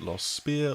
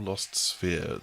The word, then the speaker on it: Lost Sphear: Whether you want to pronounce it Lost Sphear or Lost Sphere, the most important thing